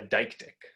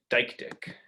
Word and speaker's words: deictic: The word here is what linguists call a deictic. It's a word whose meaning shifts depending on how you point it. What here is depends on where we say it. Deictic.